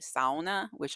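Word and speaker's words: sauna: swim it's so it's s is how Americans say it but it's actually SAA which I've been corrected on by my Finnish family members so if you hear me say SAA that's the way it's supposed to be said anyway so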